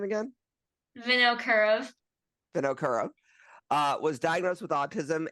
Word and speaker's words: Vinokurov: Vinokurov.